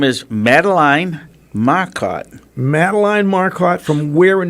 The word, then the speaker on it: Madeline: Is it Madeline Marcotte. or Madeline? No, it's pronounced Madeline.